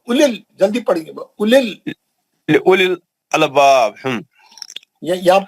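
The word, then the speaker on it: أولي: एक मिनट, मध्य असली नहीं है, वाव पे जज़म नहीं है ना, वाव पे सुकून नहीं है, वाव साइलेंट है, सिर्फ पेश की एक हरकत। उलिल, जल्दी पढ़ेंगे, उलिल अलबाब।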